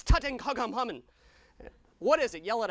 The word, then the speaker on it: Tutankhamun: It's Tutankhamun.